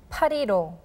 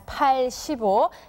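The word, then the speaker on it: 팔일오: refers to liberation day parido parido please note that this date is not read as pai shibo it's a completely different pronunciation that we have to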